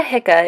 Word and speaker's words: HICA: Alpha hydroxy isocaproic acid most people will hear in the shorter version of its name pronounced Alpha hia as well as Lucic acid Alpha hika is a metaboli or